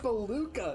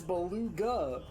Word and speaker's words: beluga: in the ocean okay it's not baluca it's beluga you're saying it wrong beluga whale okay no